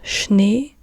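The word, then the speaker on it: Schnee: they Z or also all of these words that start with s CH so snow or Snowman in English and this is shne or just in German and we and you have again the sh sound and Sh is so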